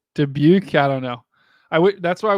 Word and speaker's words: Dubuque: Daboyuk? Is that I was trying to pronounce I was going to pronounce Dabuik, but that definitely is not the right name. That's okay. Looks like she's saying it's Dubuque. Dubuque. Okay.